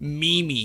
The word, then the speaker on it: meme: million brain cells like imagine pronouncing meme me me like you aren't playing Wii Sports right now people aren't calling you a me character it's a meme it's called a meme you uncultured son of